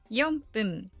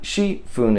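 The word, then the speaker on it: 四分: And number 4 is 4分. 4 also has another pronunciation, shi. But shi fun is not used in Japanese. So just remember 4分.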